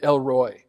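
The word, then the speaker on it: El Roi: sorry l row e l row e l roi it's actually pronounced elroy right and literally what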